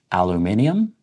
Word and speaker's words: aluminium: So British fluent speakers will pronounce this word aluminium, and North American speakers, so American and Canadian speakers, will pronounce this word aluminum.